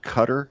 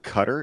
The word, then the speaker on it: Qatar: Is it pronounced cutter or Qar? I've heard I say I say Qatar simply because when I say cutter, it reminds me of one of my ex-girlfriends who was into self harm.